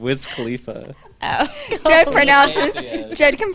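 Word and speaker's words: Wiz Khalifa: I'm just saying no so whiz khif was allegedly did I say that wrong Whiz Khalifa oh pronoun Jed can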